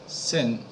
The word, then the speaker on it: XAMPP: 个怎英文怎么念呢？SAMP 563 好了哈，它，哦，版本就 563 哈，哦。